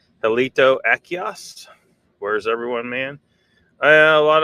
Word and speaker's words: Achaeos: You know, with scientific names, you pronounce the third, you emphasize the third syllable from the end. So Achaeos, they were like talking about Denosovans over there.